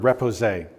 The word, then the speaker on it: repoussé: Okay, so you used another word, repoussé.